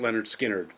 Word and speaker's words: Lynyrd Skynyrd: series about leonard skynyrd with their first album pronounced leonard skinner from 1973.